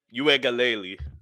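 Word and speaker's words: Uiagalelei: clemson just because like you said uh dj you ain't galeli that's how you say his name you aka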